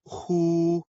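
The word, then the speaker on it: 呼: The pronunciation of hu. Like the who in the English word hoover, the pronunciation is assisted by the throat.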